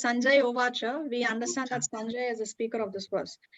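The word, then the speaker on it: उवाच: Okay, so just to give you some information, in Sanskrit, the word CA is always pronounced as cha. It's not ka or sa, it is CA is always cha. So it's Sanjay Uvacha.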